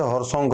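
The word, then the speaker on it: Haryanka: রাজবংশ শুরু হচ্ছে তার নাম হচ্ছে হরসংখ বংশ। তাহলে আমরা হরসংখ বংশ আমরা দেখছি। এবার বানানটা হবে এইচ এ আর ওয়াই এ এন কে এ হরসংখ বংশ শুরু হচ্ছে।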